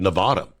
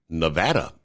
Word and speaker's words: Nevada: Uh, I've always said Nevada, yet the correct pronunciation is Nevada.